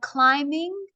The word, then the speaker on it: climbing: And these are my climbing. The B is silent.